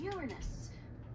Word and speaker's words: Uranus: Besides, the proper pronunciation is Uranus. It's a dactyl.